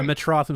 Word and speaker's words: Metrotham: But, I'm just glad that it's Metrotham, right? Am I saying it right? Yeah, Metrotham.